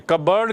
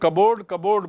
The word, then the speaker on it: cupboard: लेकिन अब अपने ड्रॉर में, कबर्ड की स्पेलिंग देखिए, हम लोग कबोर्ड बोलते हैं.